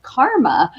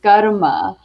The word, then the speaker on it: karma: world pronounces it as karma but uh as i grew up it's always been garuma and so go ahead and roll those r's um but yeah